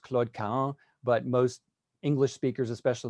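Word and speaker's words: Claude Cahun: moore now in french her name should be pronounced claud ka but most english speakers especially in the united states say claude cahoon and so that's the pronunciation i'll use tonight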